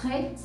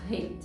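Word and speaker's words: ריש: esforço, porque em Israel esse som ele é bem forte, é um R muito forte. Eles falam isso com muita naturalidade, né? Para eles é muito fácil pronunciar o ret, mas para nós é preciso realmente um esforço a mais. É complicado, no início vai ser difícil você dar essa ênfase nesse R mais forte, mas é tudo questão de costume também.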